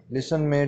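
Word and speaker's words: listen: है नमूना हल्का तो और डिजाइन में जी साइलेंट हो गया नेक्स्ट वर्ड है लिसन लिसन लिसन का मतलब होता है सुनना लिसनमे टीन सिलेंडर रेट है वह तो ठीक हम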